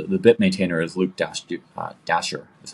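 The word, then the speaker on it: Dashjr: his round so the bit maintainer is Luke Dash Dasher is how it's pronounced um and he I think every month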